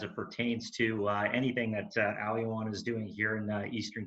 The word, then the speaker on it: Aoyuan: The name Aoyuan, incidentally translated, Aoyuan, and that's how it's pronounced, translates as Olympic Garden.